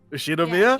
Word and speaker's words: Ushiromiya: Ushiromiya?